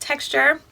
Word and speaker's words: TXTR: new line txt our it's pronounced texture which you just got